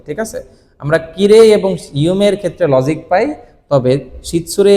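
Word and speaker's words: ゆうめい: এবং ইউমে শব্দটাকে জাপানিজ যখন কথা বলে তখন ষিরেই না বলে বলে ষিরে ষিরে ইমে ইমে এই যে মে এর পরে ই না বলে এ বলে যদি উচ্চারণে যেহেতু এ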